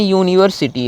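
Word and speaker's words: university: तो इसमें यूनिवर्सिटी आ रहा है, यूनिवर्सिटी का पहला अक्षर जो या है, या व्यंजन है, इसलिए हम क्या लगाएंगे, इसमें हम ए लगाएंगे।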